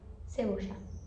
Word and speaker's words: cebolla: A verdura que tem a pronúncia diferente no espanhol argentino, que é para cebola. Cebola se escreve igual, só coloca um L a mais e vira cebocha.